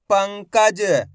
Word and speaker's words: पंकज: तो इसका उच्चारण आपको आधा ना के रूप में करना है। किसके रूप में, आधा ना के रूप में। कैसे करेंगे, एक बार फिर से देखिए। पाम अनुस्वार की मात्रा पंग, क ज, तो मिलके बन जाएगा पंकज।